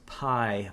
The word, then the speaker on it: Pye: The other thing, and her business is called Lucas Pie Bio, and it's spelled Pye, but like pronounced pie, like what you eat, So Lucas Pie Bio,